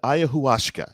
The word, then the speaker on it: ayahuasca: put it and then the drug is termed ayahuasca and that is how you pronounce it i know it sounds